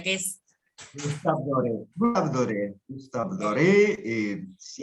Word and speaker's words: Gustave Doré: Gustave, A vos ver, decís vamos cómo se a pronuncia, yo te lo leo, Gustave Doré dice, pero ¿cómo se pronuncia? Que es Gustave Doré.